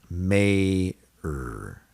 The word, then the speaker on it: mayor: Mayor, mayor, mayor. Prayer is another example where Y is silent.